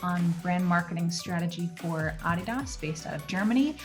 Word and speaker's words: Adidas: You'll hear me say either Adidas or Adidas because in America everyone says Adidas, but everywhere else in the world says Adidas because that's actually the correct way to say it.